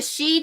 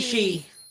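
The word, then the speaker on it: Sidhe: tree he's fucking creepy this is the she tarot which is spelled that's ah annoying s-h-i-d no s-i-d-h-e i think oh the c sorry i'm sorry that's right it's s-i-d-h right isn't it s-i-d-h-e d-h-e yeah s-i-d-h-e i believe i believe taro the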